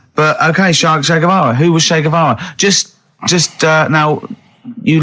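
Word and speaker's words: Che Guevara: Shavara who was Shayavara just just uh now you learned to pronounce it right.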